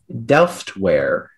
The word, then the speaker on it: Delftware: Your word is Delftware. Delftware. Is there any alternate pronunciations?